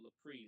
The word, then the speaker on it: Lapri: That's L as in Larry, A as in Apple, P as in Paul, R as in Rich, I as in Indigo, Lapri, like that.